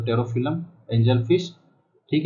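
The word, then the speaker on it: Pterophyllum: टेरोफिलम, इसका प्रोनाउंसिएशन ये होता है टेरोफिलम, लेकिन यहाँ पर टेरोइप्सम जाने क्या क्या कर रखा है जो मुझे भी समझ में नहीं आता।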